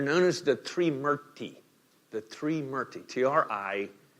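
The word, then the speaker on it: Trimurti: The Smṛti, T-R-I-M-U-R-T-I, right? And that first syllable gives you a clue, the Smṛti, right? We have a few words in English that start with T-R-I.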